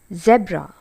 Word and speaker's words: zebra: So the second word is pronounced as zebra. Zebra, or it can also be pronounced as zebra. Zebra is American pronunciation. Zebra is a British pronunciation. Z is a sound which comes in the beginning. But we tend to use the S sound. It's not zebra but zebra or zebra.